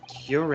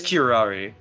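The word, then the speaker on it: curare: not special characteristics of cure error and its effects on human subjects is cure how you say it it is kirari here are you holy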